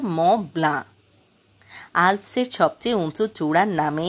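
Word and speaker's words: Mont Blanc: নিমেশ আহা কলম না যেন পরি করে পড়লে মন ব্লাঙ্ক মন ব্লাঙ্ক হয় কিন্তু চৌধুরী সাহেব চিফ ইঞ্জিনিয়ার যার নিমেশের মতই কলমের সব একদিন বলেছিলেন উচ্চারণটা ম্লা আলসের সবচেয়ে উঁচু চূড়ার নামে এই জার্মান কলমের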